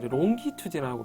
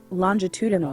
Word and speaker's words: longitudinal: 그래서 발음 그렇게 신경 안 쓰는데, 이제 longitudinal이라고 longitudinal이라고 발음하는 학생들이 한 번씩, 또는 우리 전공의 선생님이나 인터 선생님도 있는데, 이거는 좀 듣기가 좀 그래서 꼭 longitudinal이 되겠습니다. longitudinal. 또 친절하게 한번 좀 들어보면, longitudinal, 네, longitudinal, longitudinal. 어쨌든 지읒 발음 납니다.